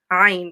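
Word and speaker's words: عين: So it's Ain. It's a very we don't have a letter like it in English, basically.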